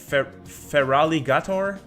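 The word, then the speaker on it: Feraligatr: Oh boy, my French is coming back to get me, but I literally can't pronounce this name. It's Feraligator, I think.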